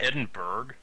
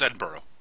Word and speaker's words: Edinburgh: of English thing so isn't that Edinburg that's Edinburgh that's how it's pronounced oh I I've been